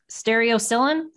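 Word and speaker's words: stereocilin: a protein called, and I may massacre this pronunciation, stereocylin?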